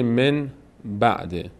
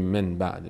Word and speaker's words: من بعده: امروز هم داریم چندتایی مثلاً کلمه من بعده نمیگیم من بعده میگیم من بعده نون رو میم تلفظ می‌کنیم این قاعده رو ما